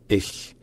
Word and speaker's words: ich: En fait, en allemand, c'est assez subtil. Ça se prononce ich, c'est-à-dire de un. Le mot commence en général par un coup de glotte, c'est-à-dire que la langue est légèrement, non pardon, la gorge est légèrement fermée pendant un petit moment pour créer une sorte d'attaque.